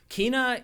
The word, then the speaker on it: Kena: explain it very long Kina is Kaa Kina however you want to say it in the game they say it like three different ways by the way the game says it multiple different ways she says it Kaa